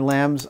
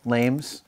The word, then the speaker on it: lames: We have the gauntlets mostly finished, and if you remember, these finger lambs I did back in San Francisco when I thought they were called lames, but that was just my pronunciation that was lame, not the little sections.